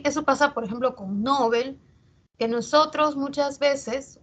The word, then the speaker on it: Nobel: pronunciamos Nobel y no se escucha que se pronuncia Nobel, ¿no? Sin embargo, si verificamos en el diccionario panhispánico de dudas, esa palabra, su origen es aguda. Esa palabra es aguda, o sea, la pronunciación debería ser Nobel.